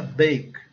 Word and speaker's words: bake: A palavra bake, que é o verbo assar. Observem que o A recebe o som básico de E, o E é silencioso.